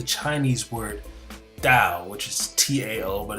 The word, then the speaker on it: Tao: Now, the word practice is akin to the Chinese word Tao, which is T-A-O, but it's pronounced Tao, and it literally means path, way, or road.